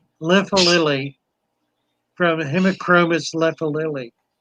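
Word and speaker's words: lifalili: Lephalili from Hemicromus lephalili. Yeah, Lephalili or Liphalili. Liphalili, double I at the end. Liphalili.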